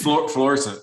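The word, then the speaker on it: Florissant: It's Fluorescent. It's how you pronounce it. Fluorescent.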